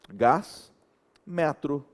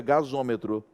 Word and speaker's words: gasômetro: Fica tão esquisito que para melhorar a pronúncia você vem e coloca um O. Aí fica gasômetro. Isso aqui sim é uma vogal de ligação. Porque é uma vogal que só apareceu por causa do som.